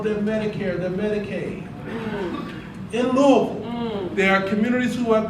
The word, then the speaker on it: Louisville: As I learned how to say the name of the city, Louisville. In Louisville, That's better.